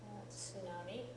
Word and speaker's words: tsunami: just give it an S sound but the t is there in the English spelling of it tsunami they just say it's silent yeah yeah they call it a silent te we call it a pronounced te tsunami okay so here's